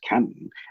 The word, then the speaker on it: Canton: I think locally it's pronounced Canton, because I think in